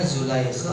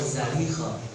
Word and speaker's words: Zulaikha: Dibacanya Zulaikha atau Zalikha? Wis terserah mau Zulaikha atau Zalikha, karena kilahuma sahih.